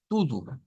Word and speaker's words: tudo: Y vean que todas estas llevan lo del tudo, tudo, tudo. Se escribe T-U-D-O, pero se pronuncia con U, con dos U.